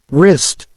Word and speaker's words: wrist: k doubt silent B wrist silent W Island silent s practice